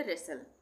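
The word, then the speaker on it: wrestle: तो यहां पे टी का उच्चारण नहीं होगा। ये हो गया रेसल।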